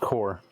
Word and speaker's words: Bomb Corp.: I hate to be that guy, but it's definitely pronounced core.